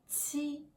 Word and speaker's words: qi: Next, qi. Same position as ji, qi, but with strong ir. Qi, qi. Qi is pronounced like qi in cheese.